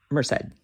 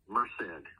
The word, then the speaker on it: Merced: And how do you pronounce that in California? Merced. Merced.